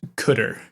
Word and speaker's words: cdr: decrement register or cdr sometimes pronounced cutter i know it's kind of rough in practice carr returns